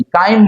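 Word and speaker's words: chyme: तीन घंटे बाद चार घंटे बाद पा हा स्पेलिंग क्या है सी एच वाई एम ई काइम बोल जाते हैं उसको अब उसको फूड नहीं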